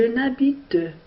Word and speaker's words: habite: Je n'habite pas à Salé. Est-ce qu'on entend la lettre H? Bien sûr que non. Alors, H, c'est une lettre muette.